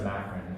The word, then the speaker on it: macron: It's a macron. It's spelled M-A-C-R-O-N, like that.